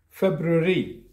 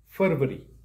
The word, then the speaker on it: February: that you see is pronounced as february not as fervory and the last word